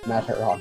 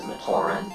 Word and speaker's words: Matoran: It would cost $6.38 to buy 145 Mataron heads. I believe the pronunciation is Matoran, but, you know, it's been a while since Matoran?